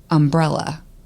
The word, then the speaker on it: umbrella: said words differently, like umbrella. Say it. Umbrella. Umbrella is how my grandma says it, but umbrella. They say umbrella. Umbrella. So they put the emphasis on the second syllable.